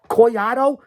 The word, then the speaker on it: Collado: I'm talking up to you, Holliday, Collado, Doyle, or Collado. That's the right way to say it. That's the right way to pronounce it.